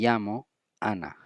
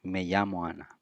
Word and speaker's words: me llamo Ana: The fifth one is me llamo Ana. My name is Ana. Me llamo Ana. In terms of pronunciation, me llamo Ana. Me llamo Ana. It's like me llamo Ana. Llamo Ana. Right?